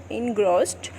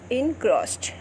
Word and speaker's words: engrossed: That is not engrossed, right? Correct pronunciation is engrossed, right?